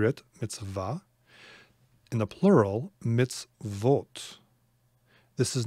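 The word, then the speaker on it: מצוות: with with a sh well actually no it could it could be me midsole i suppose but it's not it's mitz vote consonant tough mitzvot okay my commandments see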